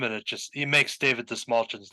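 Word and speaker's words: Dastmalchian: big fan of David Dismalchin. It's mulching. See, in my defense, when you see that dude's name Yeah. typed out, it doesn't look like it would be pronounced that way.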